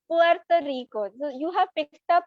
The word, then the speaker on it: Puerto Rico: Like Puerto Rico, the way you said, na Puerto Rico, it's not Puerto Rico. The normally people who do not understand or know Spanish, they will pronounce it with staccato, cut करके.